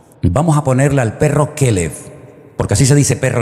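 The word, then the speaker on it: כלב: Así que tenemos a todo corazón, tenemos a Kelev en nuestra finca, pero aparte de eso, esa palabra también se puede pronunciar de otra forma y se puede pronunciar Caleb.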